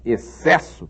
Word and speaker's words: excesso: outro caso, por exemplo, na palavra excesso, que se escreve com X e C no começo, e esse X, na verdade, foneticamente, acaba produzindo com o C, o X e o C juntos produzem um som só.